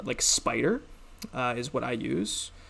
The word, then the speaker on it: Spyder: Pick up a nice editor like Spider is what I use. Spider is spelt like SP, like SPYDER, and then I would